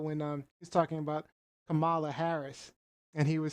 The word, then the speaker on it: Kamala: was talking about when um he's talking about kamala harris and he was saying you know it's a thing of nightmares you know you know liz is big on pronunciation kamala i said it right oh kamala i said